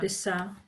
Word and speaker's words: لسه: So write it just phonetically, لسه. لسه. Lissa. لسه with L, eh? Lissa.